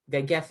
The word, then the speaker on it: Vaghefi: Vaghefi.